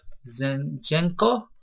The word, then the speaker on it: Zinchenko: He's a midfielder, and his name is Alexander Zinchenko. I think that's how you pronounce it.